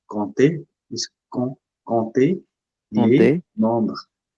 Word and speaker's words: compter: We don't pronounce p here. Compter is compter les Compter, nombres.